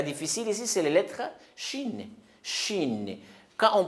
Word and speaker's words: shin: C'est pas sin. Sin, c'est autre chose. Sin aussi avec 3 dents, mais sans 3 points sur les lettres. Mais ici, avec 3 points, ça, il faut prononcer shin.